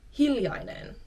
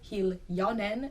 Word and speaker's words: hiljainen: Another trait in Finland is hiljainen. Again, this I in the middle sometimes gets dropped, so you might hear people say hiljainen instead of hiljainen.